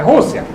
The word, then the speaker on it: Rússia: é Rússia. R-U-S-S-I-A. With an accent on the U.